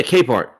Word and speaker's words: Capehart: That's how you say his name, correct? Is it Capehart? Yeah, Capehart. I'm sorry.